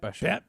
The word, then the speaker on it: Belcher: Oh, Pat Besher. Pat Besher. Yeah. But his real name is Belcher. Oh, yeah, okay. Yeah. The L is silent.